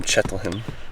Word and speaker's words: Cheltenham: From Cheltenham. Cheltenham. Is that not how you pronounce it? That's close. You're closer than most Americans.